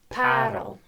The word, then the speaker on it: Paarl: The Oukraal, used to be a well-known campsite on top of Parelberg, Pearl Mountain, just outside of Paarl, which is colloquially pronounced Parel.